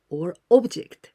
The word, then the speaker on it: を: But we pronounce o, but you must write wo.